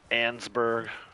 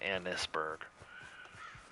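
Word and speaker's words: Annesburg: Ansburg. Some Some people call it Ansburg. In the game, though, they pronounce it Annisburg.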